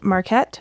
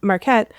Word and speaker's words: Marquette: I didn't know Mckette. Marquette. Oh my god, I said it right so many times. Marquette.